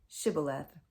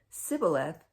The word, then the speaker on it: shibboleth: if he replied no they said all right say shibboleth if he said sibboleth because he could not pronounce the word correctly They seized him and